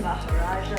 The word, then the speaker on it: Maharaja: All right, so we're going to get started making this super juicy, delicious Maharaja burger.